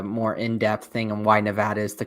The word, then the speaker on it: Nevada: All right, next up, we've got the 7th seeded Dayton Flyers against Nevada, the Wolfpack. I think I pronounced that wrong. It should be Nevada.